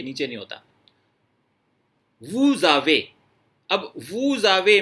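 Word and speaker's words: vous avez: लेकिन बोलते टाइम आप वू आवे, अगर दो वर्ड्स अलग अलग प्रोनाउंस किए हैं आपने तो कहेंगे आप वू आवे, लेकिन जब आप फ्लो में बोलेंगे इकट्ठा बोलना पड़ेगा इनको, वूजावे, इस तरह से।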